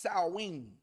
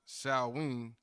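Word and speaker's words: Samhain: spelled just so we can get it it's pronounced Sween but it's spelled s a m h i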